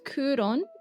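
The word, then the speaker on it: 九龍: You'll notice that the city is pronounced as Kuron in Japanese.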